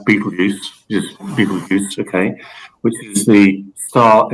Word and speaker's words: Betelgeuse: Okay, it's actually pronounced Betelgeuse, okay, which is the star in Orion on the right shoulder.